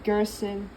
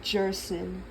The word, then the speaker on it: Gerson: And it's supposed to be Gerson, not Jerson.